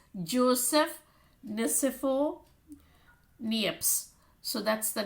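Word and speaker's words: Nicéphore Niépce: the name is french therefore a little uh pronunciation it's joseph uh here you have the name here it's joseph nisifo nieps so that's the name the french inventor when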